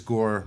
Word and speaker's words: Gore: problems the shoes and you notice Gore rhymes with right and and I want